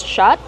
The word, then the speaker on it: shot: Use the open ah sound like hot and stop.